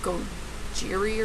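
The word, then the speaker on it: ゴジラ: like a gorilla, which Godzilla in Japanese is actually pronounced like Gojiri or something, and I don't speak Japanese, so I know I probably butchered that, but it means gorilla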